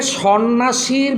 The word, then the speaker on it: সন্ন্যাসী: বোঝ না কিন্তু এখানে সন্ন্যাসীর ভিতরে স ন দন্তস সবগুলাই যুক্ত ব্যঞ্জন বর্ণ এই যুক্ত ব্যঞ্জন বর্ণ দ্বারা শব্দটা বানাইছি কিন্তু বানাবার পরে এখানে জফলাটা মধ্য হয়েছে কিন্তু জফলাটা কিন্তু উচ্চারণ হয় নাই সন্ন্যাসী আবার দেখো দারিদ্র দারিদ্র